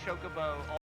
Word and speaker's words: Chocobo: going to R godam the way they pronounce Chocobo the way it it actually irritates me they don't pronounce the the second C fly Ambrosia oh God